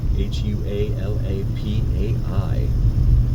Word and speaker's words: Hualapai: Hualapai. I've heard everyone pronounce it Hualapai, so that's what I've gotten used to saying.